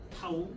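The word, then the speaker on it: τ: 타우, 읽을 때 타우라고 읽으면 됩니다.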